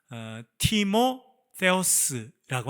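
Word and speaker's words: Τιμόθεος: 말은 디모데라고 되어 있습니다만 티모 페오스라고 하는 이름입니다 헬라어로는요 두 단어가 합쳐졌는데 하나는 티모라고 하는 단어 플러스 페어스 우리나라 없는 바람입니다만 이렇게 혀를 물어야 되는 페오스라고 하는 발음인데 이것이 없어졌어요 그러면 티모라고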